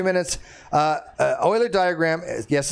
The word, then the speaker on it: Euler: going to wrap this up in 2 minutes, Euler diagram, yes, it's pronounced Euler, not Euler, Euler.